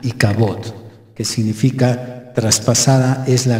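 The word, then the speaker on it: אִי־כָבוֹד: Y hay estas pérdidas, de tal forma que se cierra este capítulo con una expresión que en hebreo se pronuncia Ikabod, que significa traspasada es la gloria o sin gloria.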